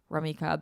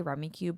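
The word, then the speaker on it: Rummikub: Rummy Cub. How do you guys say that game? I say Rummy Cube, but I think it's pronounced Rummy Cub.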